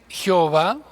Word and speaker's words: Jehová: Unos lo pronuncian Jehová, otros lo pronuncian Yahvé. Los judíos nunca lo pronuncian porque es santo.